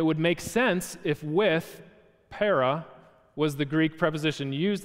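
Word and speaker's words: παρά: is a small little Greek word that's pronounced para and para can mean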